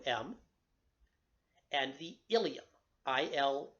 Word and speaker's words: ileum: just pronounced that way there are two parts in the body called the ileum the ileum is part of the small intestine and it is also part of the pelvic box I remember that from our skeletal system there pronounced the exact same way but the pelvic